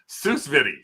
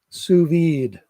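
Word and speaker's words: sous vide: This is something that I don't even know how to pronounce. This is What's in a box? a Weston susvidi suvid.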